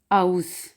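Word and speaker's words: aus: आगे है आ ऊ आवाज़ देते हैं आओ, जैसा कि बाओ, जाओ। और जैसा कि इसकी मिसाल है आउस, आउस का मतलब होता है फ्राम, से या फिर का।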